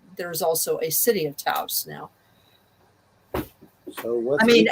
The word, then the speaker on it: Taos: Well, but then what makes it even worse is that there is a pueblo in the Southwest that is pronounced Taos, and House. Taos, and it has always been spelled Taos.